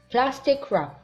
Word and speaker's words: plastic wrap: plastic wrap plastic wrap لا ننطق W plastic wrap.